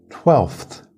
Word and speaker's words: twelfth: you'll see later that we don't always pronounce the f when we say it quickly twelfth now let's look